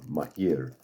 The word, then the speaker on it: Maahir: That's how you spell it, but pronounced Maahir.